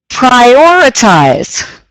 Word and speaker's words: prioritize: prioritize right or okay so within the word is the word prior prior so prioritize prioritize there you go that